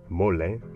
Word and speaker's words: mole: The Spanish borrowed the word mōlli, pronounced it "mo-le", and that's the way